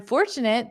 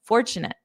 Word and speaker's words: fortunate: I'm fortunate that I can walk to work in under 30 minutes. Ah, remember previously I said I'm lucky and then I said an alternative is I'm fortunate.